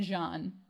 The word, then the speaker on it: Jean: the kakana no this his name is supposed to be said Jean okay and they say